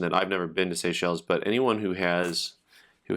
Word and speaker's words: Seychelles: seychelles um not i don't think it's pronounced seashells right seychelles and for those of